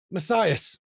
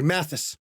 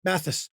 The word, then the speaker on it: Matthysse: Matias, or sorry, Matthysse, I'm always going to pronounce the name wrong. Matthysse, it's a normal day for you.